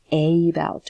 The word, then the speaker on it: about: like uh okay so uh about about we do not say about or about we just say about okay and same thing